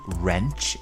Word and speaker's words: wrench: one tool called a wrench in american english or spanner in british english and with wrench we have a silent w so bear that in